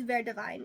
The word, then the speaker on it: Ver Divine: So that's how her last name is pronounced Ver Divine. Even though there's no E, her name literally means green vine. So very divine.